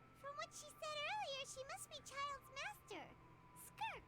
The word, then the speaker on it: Skirk: has an idea from must be child's Master skirk right skirk that's how you say her name asked the